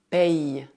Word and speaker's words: payes: Por outro lado, se escrever como Y, deve dizer tu payes. Tu payes é discreto, mas dá para ouvir o som I.